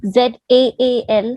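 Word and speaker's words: ذال: Za has a buzzing sound. This one, this za, when ZAA, it has a buzzing sound, honeybee sound, right?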